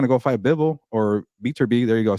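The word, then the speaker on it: Beterbiev: He's not going to go fight Bivol or Beaterbee.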